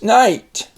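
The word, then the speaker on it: knight: The K is silent, the G is silent, and the H is silent. So this is going to be long, so we're going to pronounce this night.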